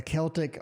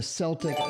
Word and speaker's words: Celtic: Oh, the Celtic or the Celtic dragon, depending on which you pronounce it.